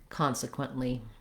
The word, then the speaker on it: consequently: english like british english in american english consequent quint we just stop that t and release right into the l consequently so once you can say